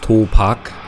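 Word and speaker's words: 도박: Yeah, it's pronounced Topak in Korean, but it means gambling.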